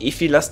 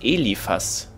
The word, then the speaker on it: Eliphas: Der heißt nicht Ephilas, der heißt Eliphas.